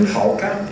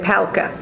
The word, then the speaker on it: Pahlka: Is it Pahlka? That's great, yes. Did I say it right? Okay, yes. good. Well, my relatives in Oklahoma City would say Pahlka, but it's either one.